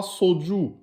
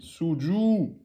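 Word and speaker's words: سجود: Ne dites pas soju. Ce sera faux et ce sera une faute grave. Prononcez bien en aminci les lettres amincies. Suju.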